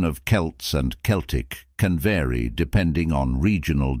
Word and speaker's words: Celtic: historical and cultural group it's commonly pronounced with a hard C Sound Celtic however in some contexts such as the Boston Celtics basketball team it's pronounced